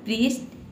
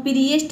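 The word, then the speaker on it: priest: पढ़ेंगे प्राइम ये है प्रीस्ट ठीक है प्रीस्ट इसको हम प्रिस्ट नहीं बोलते हैं प्रीस्ट प्रीस्ट का मतलब होता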